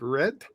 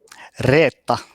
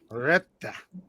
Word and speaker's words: Reta: so how do you pronounce it? Red? Reta. Retta. Exactly.